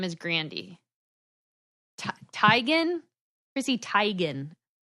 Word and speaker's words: Teigen: what do you mean it's actually Chrissy tigon stop yeah and she just said that everyone has always pronounced her name wrong and she just lets them stop yeah like it's all been it's all along it's been Chrissy tagging oh my gosh I